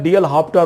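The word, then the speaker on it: L'Hôpital: लेकिन उसके पहले जो है डीएल हाफ्टा रूल्स जो है, हम लोग हॉस्पिटल उसको लिखते हैं, तो डीएल हाफ्टा रूल्स जो है उसमें कुछ साइलेंट है वर्ड, तो डीएल हाफ्टा रूल्स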